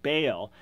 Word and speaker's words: Baal: as a proper name be AAL you nearly pronounce it Bale and you you know